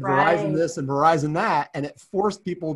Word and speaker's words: Verizon: And they were really, really worried about people being able to pronounce Verizon, not say Verizon.